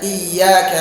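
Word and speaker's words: إياك: Itu misalnya membaca iyyaka na'budu, iya-nya pakai tasdid. Iyyaka.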